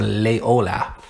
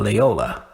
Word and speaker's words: Loyola: old y which is Lord Ola I said lay Ola and I could get that you know what see your people still understand what I'm talking about they know okay he's talking about Loyola so they know the street it's just kind